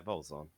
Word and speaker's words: Vaulzon: Am I pronouncing that correctly? Yeah, Vaulzon.